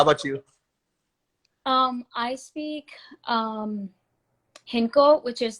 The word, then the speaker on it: Hindko: I speak Hinko, which is like a dialect of Punjabi.